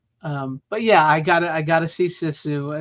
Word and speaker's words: Sisu: Sisu. Like you can see with your eyes.